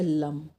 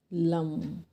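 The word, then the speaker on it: लं: इसका मंत्र है लम। मंत्र को लिख लें। ला, ला के ऊपर मकार की बिंदी, लम।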